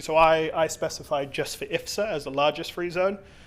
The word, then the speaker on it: IFZA: Could you explain what, how do you pronounce IFZA. it? IFZA Elite.